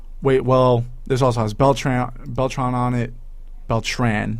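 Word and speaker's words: Beltrán: well there's also has Beltran Beltran on it Beltran not beltron it is Beltran he sells Beltran actually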